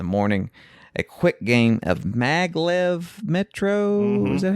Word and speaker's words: Maglev Metro: After this, we played, before we left BGG in the morning, a quick game of Maglev Metro.